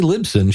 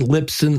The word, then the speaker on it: Libsyn: us what company you're with that would be libsyn short for liberated syndication so so i'm glad you said that because i was saying it wrong the whole time we were talking oh yeah lisbon lipson lip sync and i've heard them and so